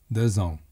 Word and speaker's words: deux ans: Consequently, deux ans. The pronunciation of en is much like the word on in English, except that the tongue remains dormant and does not touch the roof of the mouth.